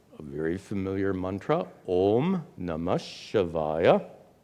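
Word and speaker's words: नमः शिवाय: So the mantra we will use, a very familiar mantra, Om Namah Shivaya. And in pronunciation, Namaha Shivaya becomes Namash Shivaya, which merges and becomes namah shivaya.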